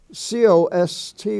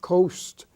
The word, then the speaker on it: cost: that family you have c-o-s-t which is not Coast it's cost is spelled c-o-a-s-t but